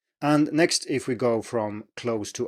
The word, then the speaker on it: ai: And so this is spelled AI in pinyin and is pronounced I. And this is nothing strange here, it's just a combination of these two, so it doesn't behave in any unexpected way or anything.